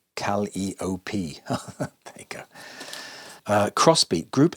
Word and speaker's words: Calliope: Pronounced Calliope.